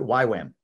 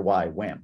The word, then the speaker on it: YWAM: that for me what why wham yeah why wham uh y-w-a-m youth with the mission oh the letter y wham got it yes yep and we